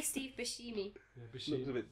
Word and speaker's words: Buscemi: Isn't that Steve Buscemi? Yeah, there's another one, isn't it? Looks like how do you pronounce his name? I say Steve Buscemi.